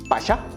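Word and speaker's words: fascia: 패샤 리프팅 파샤 발음이 너무 어려운데 좀 쉬운 발음으로 한다면 빠샤 빠샤 빠샤 빠샤 리프팅 좋습니다.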